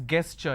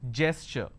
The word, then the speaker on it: gesture: it's cool isolation quarantine gesture lot of people pronounce this as guests sure it's not guest sure just because the letter G is there it is gesture against don't pronounce this as against it's against